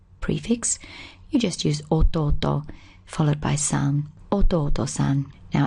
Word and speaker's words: 弟: prefix you just use auto followed by now it sounds like there's an honorific alt there but in fact it's part of the actual word now this character originally